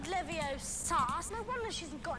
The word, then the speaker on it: Leviosa: It's Leviosa. No, Leviosa. What are you doing then if you're so clever? Go on. Guardian Leviosa. Guardian Leviosa. Wingardium Leviosa. Bruh. Oh, damn it, it's Leviosa. Not Leviosa.